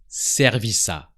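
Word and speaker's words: service à: favor for noi and the words Serv and a are really close they sound like one word servisa how do you ask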